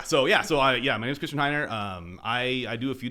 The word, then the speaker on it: Heiner: super appreciate being here my name is Christian Heiner you know I say a lot you know if you go to my LinkedIn or my Twitter it says pronounced like the religion spelled like an IKEA coffee table I say it all